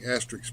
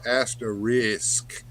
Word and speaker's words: Asterix: uh Johnny Sorensen says thank you Bill for pronouncing Asterix properly most folks say at asterisk which annoys the heck out of me yeah it's an x on the end so yeah it's asterisk asterisk Asterix not asterisk I don't know I